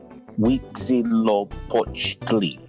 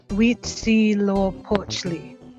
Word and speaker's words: Huitzilopochtli: Huitzilopochtli. Okay. Are you making the "w" sound with the H? We. Like in Spanish, the H is silent. Okay. Huitzilopochtli. Huitzilopochtli.